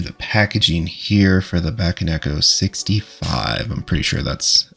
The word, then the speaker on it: Bakeneko: get right into the packaging here for the back and Echo 65 I'm pretty sure that's actually how you pronounce it and I always love when keyboards